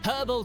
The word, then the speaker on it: herbal: The reason for the men's mildly irritating wobbling is revealed by the herbal tea. Sorry, herbal tea. They they they I forgot. I I forgot that we need to pronounce the H for this.